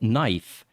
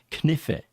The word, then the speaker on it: knife: consonants are silent like knife is knife there's a K in there which you don't hear so I would tell